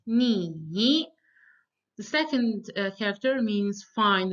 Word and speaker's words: 你: The first one means you, and it's pronounced in the third tone. So it's 你.